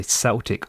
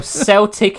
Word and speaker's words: Celtic: Well, Celtic is the football team, but if you're talking about like an event, it's a Celtic.